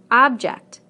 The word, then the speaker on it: object: Object, object. Permit, permit. Again, we stress the first syllable in the nouns and the second syllable in the verbs.